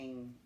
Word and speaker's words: Ng: I had to ask her how to say that. Ing. I don't know. NG. We're not positive how to pronounce that.